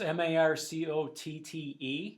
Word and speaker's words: Marcotte: How do you pronounce that? Marcotte? It's not Marconi. We're not... It's Marcotte. Yeah. Marcotti?